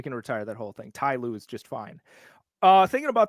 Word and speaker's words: Ty Lue: Last night I was watching the Clippers and a lot of people call him T. Lue. And I'm like, T. Lue is the exact same number of syllables as Ty Lue.